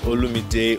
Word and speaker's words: Olumide: to mispronounce it right so my name is Ola midday oh boy no Middle